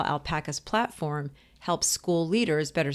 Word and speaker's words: Alpaca: And so I showed up, and we were looking at your product, your platform, which is called Alpaca.